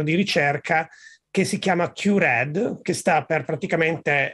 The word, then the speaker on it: QRED: E infatti abbiamo un po' il nome QRED, si può anche leggere come CURE, che fondamentalmente da una parte, se mettiamo l'accento sulla U, diventa un nome che enfatizza il red, quindi le cellule rosse. Se invece cambiamo l'accento, enfatizza la parola cura.